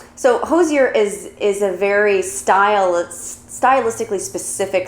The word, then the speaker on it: Hozier: It's Hozier, like cozier, so I got it there. We're pronouncing it Hozier the right way, and we're doing the Take Me to Church pop-up in NYC subway performance.